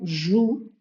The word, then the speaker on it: jouent: il donc les enfants jouent on prononce pas on joue les enfants jouent dans